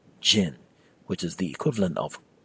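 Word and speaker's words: ချင်: need to know the auxiliary verb chin often pronounced Jin which is the equivalent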